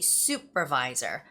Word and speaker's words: supervisor: A lot of Koreans would read this as supervisor. We like to read the word super as super, but that's wrong. It's super. So I always tell my students to remember how to say the word soup, the one that you eat, soup. The mushroom soup, broccoli soup, cheese soup. It's very similar. So you have to say supervisor.